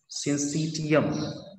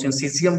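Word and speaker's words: syncytium: This one is known as सिंसीटियम। ध्यान दो, मैं सिंसीटियम बोलता हूँ, तुम लोग सिंसीजियम उसको प्रोनाउंसिएट करना, सिंसीजियम, मेरा आदत बन गया हुआ सिंसीटियम बोलने का, ठीक है।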